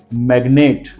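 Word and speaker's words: magnet: things I वांट तू तेल यू अब फर्स्ट स्पेलिंग कौन से है वो देख लीजिए फर्स्ट मैग्नेट देखिए जरा एम ए जी एन ए एम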